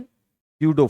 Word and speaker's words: pseudo: स्यूडो force जो है, स्यूडो force, P silent है, स्यूडो फोर्स जो है ये सिर्फ माइनस का एम ए होता है।